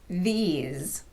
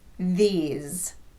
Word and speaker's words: these: Let's look at another example, these. Again, all vowels are voiced, so the S in this word will be pronounced z, these.